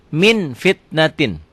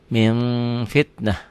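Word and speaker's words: مِنْ فِتْنَةٍ: Min fitnatin, dibacanya jadi min, bunyi m, tapi min bibirnya kebuka sedikit, bindeng tetap. Min fitnah.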